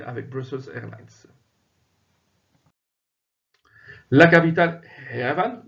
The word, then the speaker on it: Yerevan: La capitale, Yerevan, ou Yerevan, comme certains le prononcent également, est une grande ville, bien entendu, très étendue, clairsemée de parcs, mais aussi et de quartiers bien distincts.